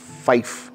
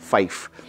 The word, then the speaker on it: Fyfe: जाता है वो हैं फाइफ, FYFE, इनका जैसे वाइफ होता है ऐसे प्रोनाउंस होता है फाइफ, तो फाइफ साहब जो